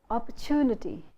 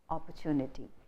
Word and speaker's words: opportunity: the wrong syllable, and they don't realize that there are two stresses in the word opportunity.